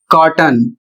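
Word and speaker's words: cotton: अगला शब्द है सी O double T ओ एन [गला साफ़ करने की आवाज़] और इसका उच्चारण कॉटन और इसकी हिंदी होती है कपास या फिर रुई।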